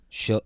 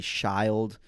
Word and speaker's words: Schild: SCHILD, which people read it. That people say child. People say That makes sense. Schlid. Yeah. And like shield.